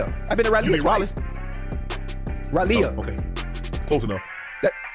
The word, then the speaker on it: Raleigh: Raleigh. Oh, okay. Close enough. That's how you say it? How you say it again? You for real? But it's spelled R-A-L-E-I-G-H.